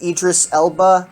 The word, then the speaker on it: Idris Elba: if i'd mispronounce it idris elba i believe is how you how you pronounce his name uh pretty pretty much